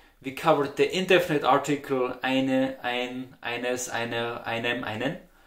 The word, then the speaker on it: ein: So you read in the article and you say, okay, there's ein, eine, and you pronounce it a, and speak it out loud for you.